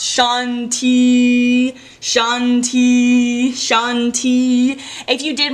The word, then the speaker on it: shanti: conflict that one is spelt like this and pronounce shanti shanti shanti if you did my meditation for